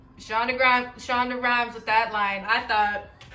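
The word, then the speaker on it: Shonda Rhimes: thought i was i thought i was shawn shonda rhines with that lie that's her name shonda gran shonda rhymes with that line i thought let me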